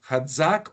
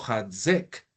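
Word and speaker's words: חָזַק: Así se pronuncia, perdón, Hazak o Hazek.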